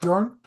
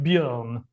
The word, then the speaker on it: Bjorn: just the sound that you Americans can't really do. So it's more like Bjorn, but Okay.